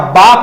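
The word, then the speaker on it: bark: बाक, रे नहीं बोला जाएगा, बाक बोला जाएगा। बार्क मत बोलना, आ के बाद रे कभी नहीं बोला जाता।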